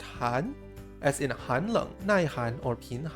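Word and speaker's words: 寒: we already know this word in Chinese is pronounced Han as in Han or pan as discussed earlier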